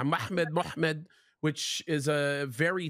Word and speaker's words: Muhammad: four consonant yeah mhmd how do you pronounce mhmd in English uh uh well you'd say muhmmed and what that's what we would say it's a slightly different in Arabic yeah muhmed muhmed which is a